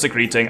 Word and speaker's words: secreting: And it's pronounced secreting, and it's not what most people think that word means, but it is, unfortunately, in some cases, accurate.